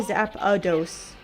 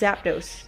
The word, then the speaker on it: Zapdos: Like when I was a kid, I used to say zap a dose. There's no, it's Zapdos. There's no There's no A in there.